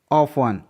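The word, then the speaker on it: often: ऑफन, यहाँ पर FTEN का पैटर्न है इसलिए टी साइलेंट है।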